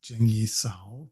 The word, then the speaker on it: Zheng Yi Sao: known more online as Zheng Yi Sao. That's the difference between the Cantonese pronunciation of her name and the Mandarin pronunciation of her name.